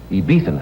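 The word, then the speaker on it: Ibizan: Ibethan hounds? Yeah. My favorite dog. What's an I-B-I-Z-A-N. The Z is I-B- pronounced T-H. Ibethan hounds.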